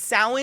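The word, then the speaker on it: Samhain: like Christmas exactly I was literally going to say like Christmas in the tree and you know everything else it is it's sa but it's spelled Sam Hae or whatever it's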